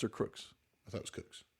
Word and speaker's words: Crooks: to the bottom of crooks Cooks is it cooks or Crooks I thought it was Cooks maybe it is